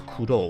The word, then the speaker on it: Kuro: aside about this name, the way it's pronounced in Japanese is Kuro, which sounds a lot like the English crow, as in the bird.